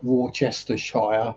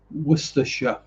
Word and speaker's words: Worcestershire: Worcestershire. Never let it be said that the English don't add extra letters that don't need to be pronounced.